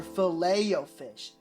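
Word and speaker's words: Filet-O-Fish: How do you say this? Fileto fish or fileo fish. I feel like everyone knows it's technically the second pronunciation, but that we all say the first.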